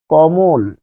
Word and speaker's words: কমল: কমল। এখানে উচ্চারণটা কি? কমল। যখন কমল বলছেন তখন থেমে যাচ্ছেন। থেমে যাচ্ছেন। এটার অর্থ হচ্ছে এখানে ল হসন্ত আছে।